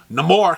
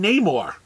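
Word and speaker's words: Namor: years or 80 years or whatever because because no more came out in the came out in the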